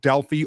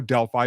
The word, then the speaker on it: Delphi: in a town called Delphi or Delphi both pronunciations are okay and it's still there